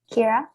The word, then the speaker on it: Keyra: Keyra, did I pronounce that right? Yes, perfect. Hi guys, my name is Keyra.